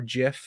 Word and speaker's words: GIF: with the meme weather how you pronounce the moving picture gif or Jif yeah there's an argument